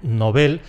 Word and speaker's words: Nobel: Y en sueco ese apellido es palabra aguda, así que tenemos que mantener la pronunciación aguda, que es la única que admiten las Academias de la Lengua. Se pronuncia igual, igualito que el adjetivo “novel” (‘novato’).